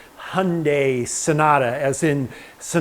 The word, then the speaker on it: Hyundai: this is a 2003 Hyundai Sonata hey I pronounced it correctly Hyundai Sonata as in so not a good car